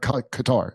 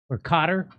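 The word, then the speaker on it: Qatar: the money through gutter it's pronounced gutter by the way not qar it's pronounced gutter or Cotter gutter so Benjamin netan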